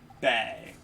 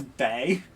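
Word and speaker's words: Bea: be bag b yeah her name's just b i keep thinking it's bae because of the way it's spelled i think it would i would have thought it was like baya or something but no not not at all okay so fighting is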